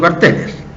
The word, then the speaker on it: carteles: antes retirar los carteles yo le sigo diciendo carteles porque es la palabra no siento como no tiene asiento y es una palabra grave de acento entonces se dice carteles y carteles de ese